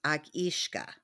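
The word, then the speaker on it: each-uisge: It looks like each usage, but it's pronounced Akishka Okay. in Scottish.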